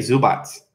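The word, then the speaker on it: Zubac: question good question but I've actually heard people from Croatia say zu BOTS so even though it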